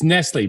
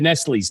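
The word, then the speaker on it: Nestlé: company Nestle that's all it's Nestle but you said Nestle's because that's what we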